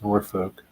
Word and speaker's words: Norfolk: It's how it's pronounced to locals. It's not how it's pronounced to passerbyers. It's Norfolk.